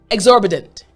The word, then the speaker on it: exorbitant: Exorbitant, bedent, bedent.